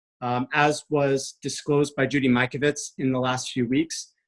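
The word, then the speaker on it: Mikovits: Judy Michael wits is that how you pronounce her name Mike Ovitz Mike Ovitz you got it okay well then and they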